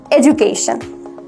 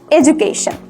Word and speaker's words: education: We always pronounced it education. Alright, education. But the right pronunciation is বাংলাতে ঝ এনে তারপর উচ্চারণ করতে হবে. Education, not education, education. The right one is education.